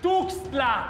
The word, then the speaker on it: Tuxtla: No lleva S, es Tuxtla con X.